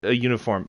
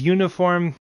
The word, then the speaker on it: uniform: But anyone could wear such a uniform. Blah. Oh. No. This is a very common mistake. Because uniform is pronounced phonetically with a Y.